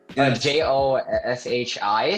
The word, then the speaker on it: Joshi: For the audience, for context, last name is Joshi. Joshi. So it rhymes with Yoshi.